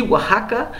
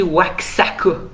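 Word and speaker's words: Oaxaca: l'état de wahaka ça ça se dit Waka ça s'écrit Wakako gen mais ça se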